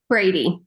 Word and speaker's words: Bready: How do you say your last name? Brady. Brady.